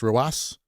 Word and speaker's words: RW9: Like, there's a Rocket League player called RW9, which is pronounced Roas.